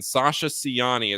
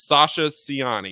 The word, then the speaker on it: Sasa Ciani: a Slovenian big man Sasha siani is how I was told at least that we were pronouncing this I know Tom Eiser is probably listening to this podcast so Tom if I got it wrong that's on you it's Sasha siani 69225-ish uh he's Slovenian